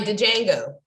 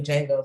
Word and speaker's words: Django: Like Django. I don't know why I said Django, like that's how you pronounce it. It's really Django, but you know, I can watch that movie every single day.